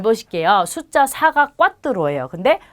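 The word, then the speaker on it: cuatro: 숫자 4가 꽈뚜로예요. 근데 네 번째는 꽈르토라고 합니다. 그래서 발음을 조금 다르게 해주셔야 돼요.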